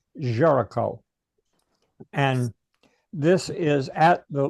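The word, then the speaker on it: Géricault: Well, this is The Raft of the Medusa by Jerome Jericho. It doesn't look like that if you see it spelled, but it's pronounced Jericho.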